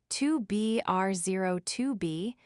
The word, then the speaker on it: 2BR02B: The zero in the telephone number he pronounced not. The number was 2B R02B.